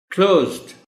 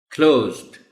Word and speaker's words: closed: इसमें बच्चों के लिहाज से दो important points हैं ऑनरेबल टीचर. वन, कि ये जो CL हैं दोनों लेटर्स इकट्ठे, इनको बच्चों को आपने प्रैक्टिस भी करवानी है कि वो थोड़ा तेजी के साथ और एक ही साउंड के साथ वो बोलेंगे इसको. देखिए ना, अगर उनको नहीं